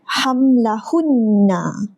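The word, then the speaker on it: حملهن: Saya baca panjang dua harakat. Sebab apa? Sebab wajibul ghunnah.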